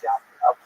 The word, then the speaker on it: Yavnea: So the Roman term for Yavne is Yavnea, sometimes with a J, pronounced J, but really it's Yavnea.